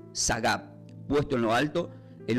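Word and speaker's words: שָׂגַב: No se olviden, la palabra exaltado del hebreo se pronuncia como sagab, puesto en lo alto, en un lugar seguro, fuera del alcance del enemigo.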